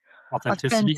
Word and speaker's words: authenticity: So authent au I always have trouble pronouncing this word. Authenticity authenticity especially when I'm drinking is uh way higher weighted than efficiency.